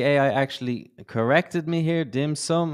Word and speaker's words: dim sum: You were talking about Peking duck and dim sims and all about China. almost got it. You mentioned Okay, so as you can see, the AI actually corrected me here. Dim sum is the way it's pronounced.